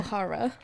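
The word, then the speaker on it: Aokigahara: I know in Japanese, like, the whole point, you pronounce every letter, right? Yeah, so... From what I understand, when Jeff was here, Egyohara.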